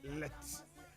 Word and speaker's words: Letsema: We say Letsema. Letsema. And no Abia said ye one more a pronounce on a canon.